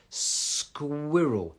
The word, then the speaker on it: squirrel: So, S sound, sk. It's the QR as well. Squirrel.